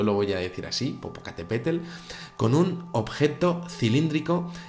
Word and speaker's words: Popocatépetl: la verdad es que me cuesta un poquito pronunciarlo bien, pero bueno, yo lo voy a decir así, Popocatépetl, con un objeto cilíndrico y en algunas de